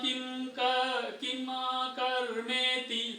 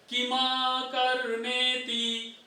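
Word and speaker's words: किमकर्मेति: किम कर्म किम कर्मेति, देखिए इसको उच्चारण ध्यान दीजिएगा, मैं फिर से पढ़ता हूं जिससे आपको ध्यान रहे। किम कर्म किमा कर्मेति, किम कर्मेति नहीं, किमा कर्मेति कवयोप्यत्र मोहिताः, मोहिता नहीं, मोहिताः।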